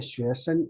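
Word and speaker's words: 学生: If you pronounce like a 学生 it's a first tone, so you have to pronounce like a gently, like lower down your voice.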